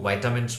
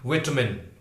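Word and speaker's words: vitamin: हैं तो वो आपको वाइटामिन्स वगैरह देते हैं, वाइटामिन, वाइटामिन एक अमेरिकन प्रोनाउंसिएशन है। उसके विपरीत विटामिन, विटामिन that is British pronunciation, वो ब्रिटिश प्रोनाउंसिएशन कहलाता है।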